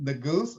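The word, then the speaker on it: Neguse: a young congressman from the bold area named the goose am i pronouncing that correctly right yes yeah and he's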